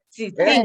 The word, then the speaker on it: tzitzintik: Sí, Ajá, sí, sí, sí, Ah, se pronuncia como S entonces. sí, como S, Ah, así es. yo Sí. pensaba que teníamos que pronunciar la Z. Es No, es sisintic. como una TZ, como, como que se le sale el aire.